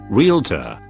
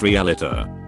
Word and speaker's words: realtor: times I correct them realtor it's not pronounced realtor there's nothing between the L and the T not exactly mispronounced on